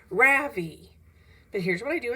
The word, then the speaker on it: Ravi: R-A-V-I. Mrs. Beam has been calling him Ravi, but when he introduced himself earlier, I'm pretty sure he said his name was Ravi. With the accent on the second syllable.